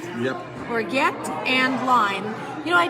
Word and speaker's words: orgeat: Orgeat? Yep. Orgeat and lime. You know, I tried to make my own orgeat. Is that how you say it? Yep. Orgeat.